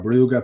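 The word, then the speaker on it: Brugge: Galatasoy, we came unstuck against uh Club Bruge or Buga, depending on how you want to pronounce it, and Juventus.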